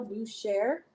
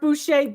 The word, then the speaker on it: Boucher: It's Mar Marcel Bucher. It's marked Bucher. B O U C H E R. Some people pronounce the R. Some people don't.